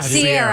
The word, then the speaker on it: Ciara: First of all, I was going to say, why y'all keep calling the girl Ciara? Yeah, Sierra. Sierra, yeah. Sierra.